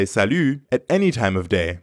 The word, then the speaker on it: salut: day morning or evening Salu ends with the French sound e e yeah that's very French we to make this sound salute say e but pucker your lips salute Buffet let's practice repeat